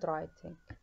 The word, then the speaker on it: writing: history تاريخ، reading and writing writing القراءة والكتابة reading and writing. دائما أقول لكم أن writing الدبليو ما راح ننطقها.